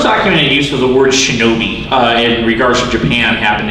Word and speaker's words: shinobi: The first documented use of the word shinobi in regards to Japan happened in 593.